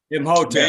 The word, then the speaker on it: Imhotep: All right, so, and I want to say something about the reading on Sunday, because Ihotep, boy, how you say his name? Imhotep.